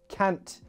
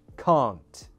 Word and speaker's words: can't: But in a Northern accent, it would sound like this sound, ah. Can't, laugh, last, castle, bath. And so the problem is when an actor is playing a character with a Southern accent, like London or RP, but then use the Northern pronunciation for those words.